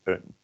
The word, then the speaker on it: een: So it's spelled the same as the number one, but number one is always pronounced as een, and the indefinite article is pronounced as een. That is kind of different.